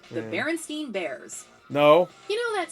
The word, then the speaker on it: Berenstain: But what do you say when you say Frankenstein? You say Frankenstein. So it should be Berenstain Bears, not Berenstain. It should be Berenstain, even though it's not spelled like Frankenstein.